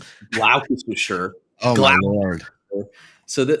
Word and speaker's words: Gloucestershire: They had a problem with how you pronounced Gloucestershire. Oh my lord! So this is what they say in the UK. They say No way. Gloucestershire.